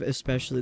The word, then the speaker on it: especially: Especially instead of especially. There's no K sound in there.